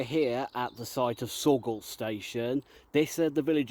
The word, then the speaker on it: Saughall: So, this was Sorgall Station. If anyone wonders how that's spelled, Saughall.